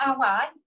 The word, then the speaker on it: Awad: Her name is Nirvana Awad.